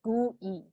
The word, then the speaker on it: GUI: people pronounce it as gu e uh pronounced like g-o-o-e-y gui coded as gui